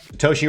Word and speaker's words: Toshi: open up this evening Toshi rhymes with Yoshi and there are one